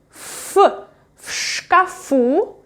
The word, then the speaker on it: в шкафу: And I pronounce v as f because next consonant is unvoiced.